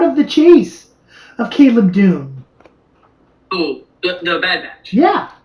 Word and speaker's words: Dume: on batch and and it's Doom do May it's it's Dume it's Doom d-u-m-e no it's okay I